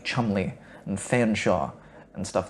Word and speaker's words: Cholmondeley: They say things that are like quaintly ridiculous in an upper class way, where they pronounce names like Cholmondeley, Chumley, and Fanshawe, and stuff like that.